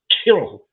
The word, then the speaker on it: Kirill: He was literally a KGB spy, and you pronounce his name Kill, but with a slight Kirill.